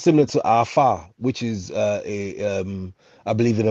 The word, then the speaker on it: Afa: In ancient Kemet, it's called Afa, AFA. Afa. Yeah, Afa. So, It was Afa, Afa. okay. Yeah, so it's pronounced as AFA.